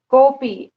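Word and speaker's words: कोऽपि: कोपी, जब उसको पढ़ेंगे तो ऐसी अ का उच्चारण नहीं करेंगे, ठीक है। वो सिर्फ दिखाने के लिए खंडाकार लग रहा है, पर उसका उच्चारण हम नहीं करेंगे।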